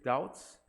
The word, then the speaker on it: doubt: His doubts, 다우에다가 다웁트가 아니고요. B가 묵음이에요.